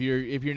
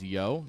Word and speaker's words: Jo: It's funny because I know in Germany if your name is just J-O, it's Yo. It's pronounced Yo.